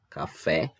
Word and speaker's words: café: Em seguida, nós temos a palavra café. A palavra café, ela tem 2 sílabas, né? Então, ela é dissílaba, café, e a sílaba tônica dela é o café. Então, é a última sílaba que é a mais forte. A última sílaba que é a tônica. Então, ela é uma palavra oxítona.